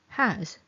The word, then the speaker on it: has: S here is special. It's pronounced as z. A z has.